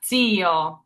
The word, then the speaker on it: zio: Then we have zio. So once again, even though this is a singular Z, even though it starts the word off, no matter where the Z is and how many you see, it's always going to be that pizza sound.